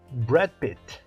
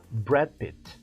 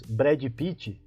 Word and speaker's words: Brad Pitt: filmes dele Achei um excelente ator então a pronúncia correta gripe gripe e quando nós dizemos Brad Pitt Você viu o filme do Brad Pitt É como se você estivesse dizendo prezinho pipizinho